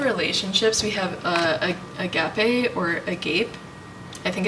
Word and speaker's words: agape: okay guys I looked it up it is pronounced agape and it means the highest form of love